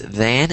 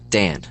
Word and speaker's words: than: So the way you pronounced it sounded like Dan.